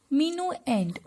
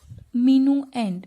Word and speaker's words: minuend: This one is called minuend. Minuend. See the pronunciation?